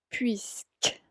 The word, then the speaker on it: puisque: Puisque. Entonces tienen que aprender a pronunciar bien esa palabra.